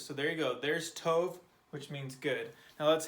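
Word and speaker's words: טוב: The tet makes a t noise, and the bait makes the v noise. So we have t and v. And then we plug in this vowel, which makes it O, and we put it all together, tov.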